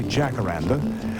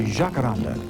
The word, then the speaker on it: Jacaranda: There seems to be a lot of pronunciations. Anglo say jackaranda. A Brazilian would say jakaranda. Cuban hakaranda.